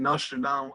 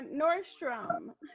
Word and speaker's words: Nordstrom: question how did the connection between you and nostril now come around oh I like some Milan or or Nordstrom Nostromo Leone so I mispronounced yeah Nordstrom was one of the first